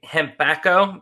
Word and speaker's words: Hempacco: bit of english that's funny so your company hembacho that's how you pronounce it right yes okay and becca why